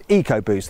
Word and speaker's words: EcoBoost: little bit confusing, because when Ford uses the letters ECO and puts them before the word boost, it pronounces them as eco, as in EcoBoost.